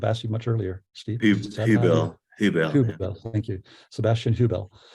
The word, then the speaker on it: Huebel: I'm not sure how you pronounce that. I should have asked you much earlier, Steve. Huebel.